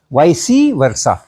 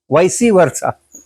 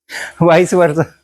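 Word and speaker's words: vice versa: वी आई सी ई तो वॉइस पढ़ना और वर्षा के पहले लगा हो तो वाइससी पढ़ना वाइससी वर्षा वाइस वर्षा भी बोलते हैं लेकिन वाइससी वर्षा भी बोलते हैं।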